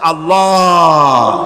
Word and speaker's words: আল্লাহ: আল্লাহ পাকের উচ্চারণটা হচ্ছে, আল্লাহ পাকের নামকরণ হচ্ছে আল্লাহ। মুখটা একটু গোল হয়ে যাবে, বলেন আল্লাহ।